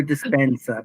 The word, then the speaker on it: Dispenza: Joe Dispenza, please.